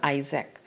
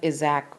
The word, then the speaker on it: Isaac: know not any it was going to pronounce Isaac not exact or something like that Isaac I see move